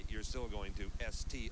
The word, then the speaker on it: Est: that's East E EST T is silent West it's not on